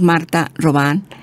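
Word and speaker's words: Marthe Robin: alma francesa Martha roban se escribe robín pero decimos Marta rán que murió en 1981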